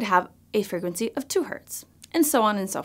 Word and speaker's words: hertz: that hurts so that's shortened to Hz pronounced Hertz electromagnetic waves are actually